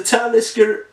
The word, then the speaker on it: Talisker: to get here in Sweden uh it's a talisker surge I think it's pronounced and it's uh 100 bourbon maturation experimentation